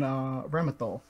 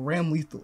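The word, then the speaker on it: Ramlethal: And Ramathal, or Ram Lethal. It really depends on who's pronouncing it.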